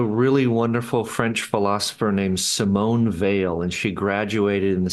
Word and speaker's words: Simone Weil: There's a really wonderful French philosopher named Simone Weil, and she graduated in the same class as Simone de Beauvoir, the French feminist.